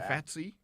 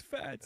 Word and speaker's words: Fats: who we got replacing fatty or faty fats fats say it right it's fats and then job five5